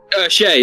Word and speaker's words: Shay: Shay, like Shaman, yeah.